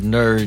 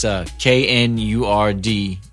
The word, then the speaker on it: Knurd: My name is Knurd, and it's spelled backwards. It's actually not spelled backwards, but it's drunk backwards.